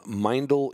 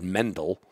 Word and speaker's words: Meindl: hell's mindel okay well if you know boots and you pronounced it wrong like I did for many years we always said Mendel because we don't know that the I before the E is an e and an i anyway so a good